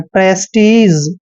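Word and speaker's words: prestige: उच्चारण ज करते हैं प्रेस्टीज आप इसको कई बार प्रेस्टाइन हैं लेकिन प्रेस्टीज मैक्सिमम बोला जाता है प्र प्रेस्टीज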